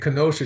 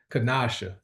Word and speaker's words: Kasha: and and and and Kenosha, she might correct she corrected me on on pronouncing her name. So, it's it's actually Kasha.